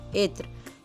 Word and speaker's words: عطر: عطر بولا جاتا ہے۔ اس کا صحیح تلفظ ہے عین کے نیچے زیر، توئے ساکن، رے ساکن، عطر۔ اس جیسے اور لفظ